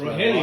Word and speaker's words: Rogelio: All right, but people don't even know how to pronounce my first name. That's Rogelio.